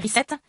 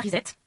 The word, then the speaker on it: reset: Une auditrice nous dit qu'il vaut mieux prononcer reset et non pas reset, et elle nous dit bien courtoisement.